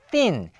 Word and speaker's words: thin: 자 sin 가은 얇은이란 뜻입니다 자 가늘고 얇아요 그래서 에다가요 발음 어떻게 했었어요 우리가 sin 자 이빨로 혀를 문 상태에서 쓰 발음을 하죠 쓰 쓰쓰 그래서 sin